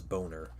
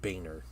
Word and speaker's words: Boehner: Um and uh his last name was Boner, but he pronounced it Boehner, but everybody knew everybody knows his last name was Boner.